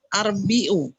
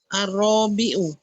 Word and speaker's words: الرابع: Bisa nanti arbi'u gitu ya. Ini Om, yang ada di halaman sebelumnya ini bacanya gini Om. Huruf pertama selalu panjang, fathah panjang. Ar-rabi'u. Gitu bacanya.